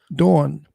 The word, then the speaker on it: Dawn: I said, I don't know. So he sounded like, I don't know what. How do you say dawn? Dawn. Dawn. Dawn. DW. It's not Don. It's Dawn.